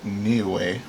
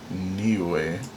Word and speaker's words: Niue: Alright, this is pronounced Niue. Okay, I couldn't have guessed that to save my life, I'm pretty sure. Niue.